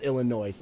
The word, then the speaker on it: Illinois: Illinois wrong off it is pronounced Illinois I know it's pronounced Illinois and I didn't